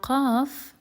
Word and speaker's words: ق: Now qaf, we can pronounce it basically by pressing the back of the tongue against the soft palate.